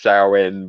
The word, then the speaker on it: Samhain: want to say that technically in like Gaelic pronunciation it's so in but I I'm not going to judge somebody who calls it Samhain besides without the um